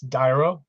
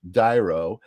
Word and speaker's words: D'Airo: pronouncing your name correctly it's uh it's dyro dyro okay see I knew like something was telling me to ask um I was just kind of intuitively trying to pronounce it it's spelled apostrophe a-i-r-o and so it was uh it was tricky but something told me to ask so it's diro everybody Welcome dyro